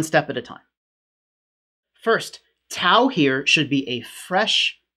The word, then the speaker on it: tau: to infer a type tau for this so i'm pronouncing tic t as tau and there's going to